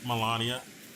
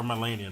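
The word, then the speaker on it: Malenia: I was playing eldering yesterday and I beat Melania or melenia that's how you pronounce the name I've been pronouncing it incorrectly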